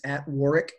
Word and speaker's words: Warwick: Crucible leadership on LinkedIn it's Warick Fairfax with the silent W in the middle W wi at War